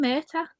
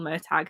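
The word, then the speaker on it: Murtagh: the book is called Murder tag now and I'm like no one's listening to you no it's called it's murder or murder like whatever it's not you don't pronounce the g h like if you don't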